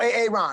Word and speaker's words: Aaron: you say it the first time i said a-a-ron because it's pronounced aaron good morning welcome back here cbs